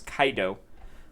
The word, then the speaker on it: Kaido: I believe that was the pronunciation that they used, was Kaido.